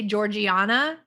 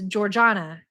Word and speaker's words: Georgiana: Well, except for I feel like I say your name wrong cuz I say Georgiana like I don't know. Maybe you're a hick or something, but it's Georgiana Georgiana.